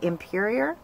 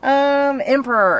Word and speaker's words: Emperor: This color is called Imperior. So, or no, maybe Emperor. It's been a long day. Emperor is the correct pronunciation of that one.